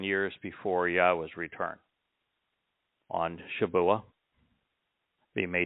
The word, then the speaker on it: Yahweh: He introduced himself using the verb haya, explains how to pronounce 3 of the 4 letters in Yahweh's name, taking the mystery away.